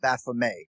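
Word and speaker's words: Baphomet: Uh I generally say Baffomet. Um, but you know, obviously if you were French, you might say Baffome and that's what the uh the French knights who were being interrogated.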